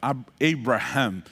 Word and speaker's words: Abraham: a no hebraico aumenta um h antes do a e muda completamente o fonema é por isso que em outras línguas como no inglês né não se fala Abraão dois a fala Abraham essa pronúncia esse fonema